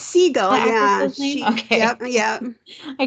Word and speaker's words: Siegel: And of course, Kate is it Kate Siegel, you think is how you pronounce? It's Siegel, yeah.